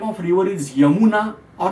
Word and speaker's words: Yamuna: Similarly, there is confusion in pronunciation between y and j, not in India, worldwide. For example, the name of river is Yamuna or Jamuna, but both are pronounced.